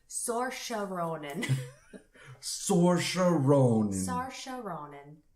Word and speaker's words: Saoirse: Atonement is with Keira Knightley and James McAvoy, and then you say her name, Saoirse Ronan is how you say her name, but it's Oh, yeah.